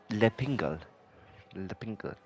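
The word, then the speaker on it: L'Épingle: Coming around the, how do you pronounce it? Le Pingle, apparently.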